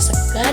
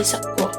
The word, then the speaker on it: sega: Sega yang berarti nasi ibu yang berdialek banyumassa melafalkan kata Sega dengan bunyi vokal a sedangkan Ayah melafalkan kata Sega dengan bunyi vokal o menjadi Seo selanjutnya perbedaan penggunaan kata